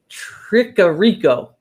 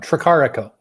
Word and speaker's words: Tricarico: Tricarico. Tricarico. Yes, yeah. Is that? Took me a while too. It's okay. Is it Italian? Italian. And yes. I was trying to pronounce it like Spanish.